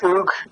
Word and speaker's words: Hugues: It's in French. It's pronounced Hugues Montu.